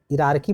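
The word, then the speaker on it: hierarchy: It involves E आर की यहाँ पर एच आई साइलेंट है, इरारकी पढ़ते हैं ना, इरारकी।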